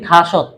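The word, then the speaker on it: 다섯: করে যেমন থাশি থুশি যেমন আমরা লিখি দাসত দাসত মানে কত পাঁচ কিন্তু তার উচ্চারণ করে কি থাসত থাসত মানে কি দ্বিগুটা থ উচ্চারিত করে বিয়োগটা প উচ্চারিত করে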